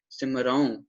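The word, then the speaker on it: ਸਿਮਰਉ: इस वजह से यहाँ पर उच्चारणता क्या की जाएगी, बिंदी के साथ उच्चारणता की जाएगी, सिमराऊं, ठीक है।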